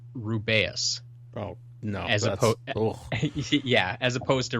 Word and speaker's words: Rubeus: So apparently Jim Dale says Rubeus. Oh, no. As opposed to Rubius, as they say in the movies.